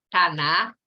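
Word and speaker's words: Tanakh: A Bíblia hebraica, ela é composta de 24 livros, chama-se Taná, né, conforme os judeus pronunciam.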